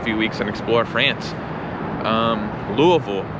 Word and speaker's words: Louisville: Louisville is how it's pronounced if you live here in Louisville. Some people say Louisville. I think Louisville might be closer to the actual pronunciation because Louisville was founded,